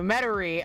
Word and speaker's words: Metairie: The way Mater is pronounced is wild to you. Metairie.